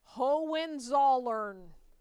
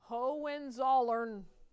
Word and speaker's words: Hohenzollern: Now, before you think, oh, that's impossible, I'll never learn it, it is spelled exactly like it sounds. Hohenzollern. Hohenzollern.